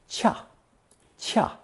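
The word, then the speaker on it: 恰: way to do anything this character is pronounced fourth tone chaa what's appropriate and suitable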